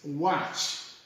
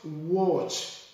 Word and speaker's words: watch: So we come to number 9, and this word is watch. It's not watch, but it's watch.